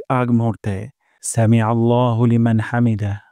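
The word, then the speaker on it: الحمد: যাবে হামদ হামদ আর হা উচ্চারণ করবো গলার মাঝখান থেকে হামদ রব্বানা ওয়ালাকাল হামদ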